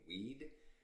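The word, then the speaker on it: Wied: My name is pronounced, and it is acceptable for you to call me Weed, Mr. Weed, Hayweed, W-I-E-D, period, even though it's phonetically sounds like weed, which has a drug connotation.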